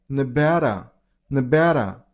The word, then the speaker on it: Nevada: very shortly stress on the middle syllable. Ba the P turns into B sound. So Na Nevada that's it.